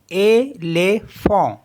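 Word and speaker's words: éléphant: accent एगू है जैसे ई एल ई पी एच ए एन टी इन दोनों में दो जो ई है यहां पर हमारे पास इनमें एक्सेंट एक है यानी कि एक्यूट एक्सेंट है तो इस इनको पढ़ते हैं एले फो एले फोम मीस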